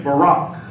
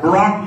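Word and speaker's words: בָּרַךְ: syllable r a k with the accent on the second one so say Barack bar Barack means to it means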